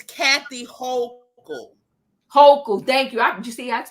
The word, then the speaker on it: Hochul: Hochul, thank you. You see, that's why I love you, because you help me pronounce words and get it right.